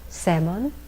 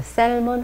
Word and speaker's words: salmon: 그 다음 salmon, salmon, salmon. 여기에서 L 발음은 묵음이 돼서 셀몬 하지 않고 그냥 salmon이라고 합니다.